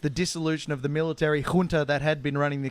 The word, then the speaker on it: junta: Can you say junta one more Junta. time? Junta. You said It's spelt with a J, so it's kind of in between a soft J and a hard J.